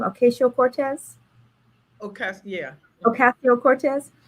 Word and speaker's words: Ocasio-Cortez: is ocasio i don't is that how you pronounce her name acacio cortez yeah ocasio-cortez it's a discussion draft to reform the eviction